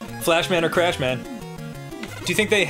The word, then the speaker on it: Flash Man: Fishman. Fishman? No! It's Flashman! You know, rhymes with Crashman.